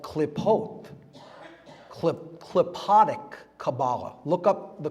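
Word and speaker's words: Qlippoth: It's called klipot, klipotic Kabbalah. Look up the klipot. It's spelled Q-L-I-P-P-O-T-H.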